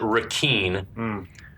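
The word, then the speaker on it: Requin: Um, and we finally find out from the captain that Ponytail's name is, he pronounces it Raken, which is spelled R E Qui I N, which is the French word.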